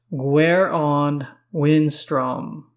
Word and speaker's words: Gwaeron Windstrom: His name is pronounced Gwaeron Windstrom.